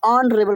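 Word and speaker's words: honourable: एच यानी consonant से शुरू हैं, परंतु उनका उच्चारण वावेल यानी कि स्वर से आरंभ होता है। जैसे ऑनेस्ट, ऑनेस्ट पढ़ते हैं, अनरेबल, ऑनरेबल पढ़ते हैं एच से होने के बाद।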